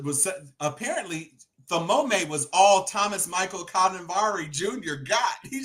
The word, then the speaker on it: Thomas: She pronounced Thomas Thamome. Exactly.